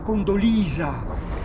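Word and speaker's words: Condoleezza: Come si scrive Eh si scrive con dolez perché i suoi genitori volevano che chiamarla con dolcezza scappata alla C è uscito con dolez che in americano si dice cond dolisa PR E vabbè le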